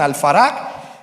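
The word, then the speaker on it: الفرج: Y el término que yo le dije, el término Faraj, que lo pronuncian Al-Faraj el Mahdi, Al-Faraj el Mahdi, Al-Faraj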